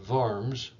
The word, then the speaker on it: Worms: looks like worms but in german the ws are pronounced vs so the diet of varms of 1521 was an